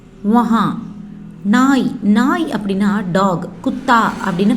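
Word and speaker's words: कुत्ता: குத்தா அப்படின்னு ப்ரொனவுன்ஸ் பண்ணணும்.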